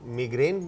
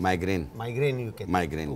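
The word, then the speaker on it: migraine: एक क्वेश्चन मेरा बड़ा मासूमाना एक सवाल है, इसकी करेक्ट प्रोनाउंसिएशन क्या है? मिग्रेन बोलते हैं या माइग्रेन बोलते हैं? माइग्रेन कहते हैं।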